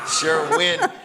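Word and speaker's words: Sherwin-Williams: what shwi shwin yeah she likes Sherman Sherwin Sherwin Williams okay is that right sh wi am I saying it right yeah that's how it is so they're having a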